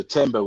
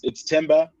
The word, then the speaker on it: Themba: It's the latter, so Themba with like a silent H. So we don't pronounce the in the TH.